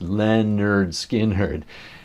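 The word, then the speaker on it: Lynyrd Skynyrd: Leonard Skard's first album pronounced Leonard Skhardd.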